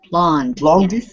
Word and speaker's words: blonde: Blonde. Blonde. There's no the e on the end is not pronounced. It's just blonde.